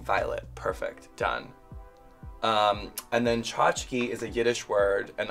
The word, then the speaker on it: Chachki: I spell it like the way it sounds, which I think is supposed to be easier for people to understand and to pronounce, but people still have problems with it.